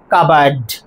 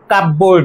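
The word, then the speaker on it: cupboard: তাহলে প্রোনাউন্সিয়েশন কি দাঁড়াবে? কাবার্ড, কাবার্ড, কাপবোর্ড নয়। কাবার্ড বলতে কি বোঝায়?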